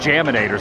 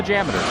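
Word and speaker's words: Jammitors: I used to call them the Jaminators, and I realized I was saying it wrong. I was thinking like Terminator and Jameters combined, but it's the Jameters.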